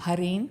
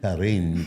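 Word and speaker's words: Jarrín: I like the way you pronounce my last name. Harin. Harin.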